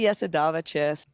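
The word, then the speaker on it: Jasudavicius: And I mean, again, if you've been saying it wrong. It's actually Já se dá večer.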